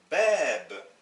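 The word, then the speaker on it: باب: Bab, ça veut dire une porte. Donc voici une longue voyelle. Il va sans dire que c'est très important de prononcer les longues voyelles.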